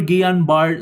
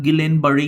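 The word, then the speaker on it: Guillain-Barré: Okay, next na pag-uusapan natin is your Gianbar syndrome. It's not Gilenbar syndrome. It pronounce as Gian Bar syndrome.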